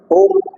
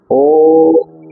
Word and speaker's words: ओम: यानी ओम का उच्चारण कैसे करेंगे? इस तरह से नहीं कि ओम ओम इस तरह से नहीं ओम 11 आ इस तरह से एक दो तीन चार पांच छ सात आठ नौ 10 11 आ इस तरह